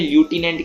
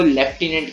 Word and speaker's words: lieutenant: ठीक है, अब इसको क्या कहते हैं, ल्यूटिनेंट कहते हैं बहुत बच्चे, पर वो गलत है। इसको लेफ्टिनेंट कहते हैं, भले इसकी स्पेलिंग LIEUTENANT है, मगर इसको लेफ्टिनेंट कहते हैं।